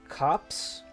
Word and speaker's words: copse: Feather grass stands tall in the steppes beyond the woody copse? Glimmering with a soft light. Actually, what is that? How do you pronounce that?